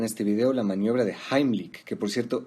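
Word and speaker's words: Heimlich: vídeo la maniobra de jambly que por cierto esa es la pronunciación correcta porque está en alemán la mayoría dice pero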